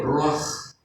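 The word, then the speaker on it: רוּחַ: O ruach, así se pronuncia en el hebreo, ruach.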